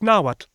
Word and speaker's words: Nahuatl: Those UHs do indeed correspond to W's. There really are just 4 vowels, and this 4th vowel drifts freely between O and U, which explains those earlier spelling variations. And elephant in the room, or jaguar in the temple, but this TL all over the place, is kla.